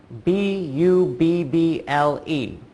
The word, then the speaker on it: bubble: I thought of bubble bu b BL e that's six letters but oh oh again only for sounds bubble the 2 b's make one sound and the e at the end is silent sometimes you're going to